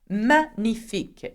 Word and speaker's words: magnifique: Magnifique. In English, you say magnificent, but in French, we hardly pronounce the G, so we say magnifique, okay?